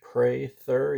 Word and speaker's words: Prather: It's pronounced with a long A like you pray in church, Prather, even though there's no Y in the spelling.